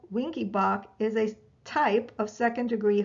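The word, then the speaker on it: Wenckebach: and units and that is winky bach it's spelled w e n c k e b a c h mobitz type one also called winky bach is a type of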